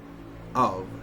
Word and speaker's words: of: An exception to this rule is the word of, which is pronounced with voicing as if it was written with a V, of.